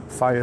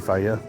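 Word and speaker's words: Fage: Faya is a good choice. F-A-G-E, Faya.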